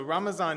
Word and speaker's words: Ramazan: later in our service so ramazan is the pronunciation of Ramadan that is used in my chisti Sufi lineage which traces its roots to India and turkey and other nations where Arabic is not the dominant language in case you're wondering